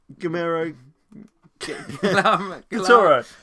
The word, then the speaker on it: Guillermo del Toro: It's Guillermo Del Toro, the director of Hellboy.